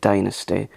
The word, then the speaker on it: Dynasty: I love things like Dynasty. That's the proper way to pronounce Dynasty because Dame Joan Collins pronounces it Dynasty, and of course Joan Collins played Alexis Morel, Carrington, Colby, Dexter, Rowan.